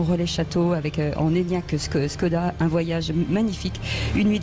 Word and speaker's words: Škoda: On avait dit pendant des jours que c'était Skoda et pas Skoda.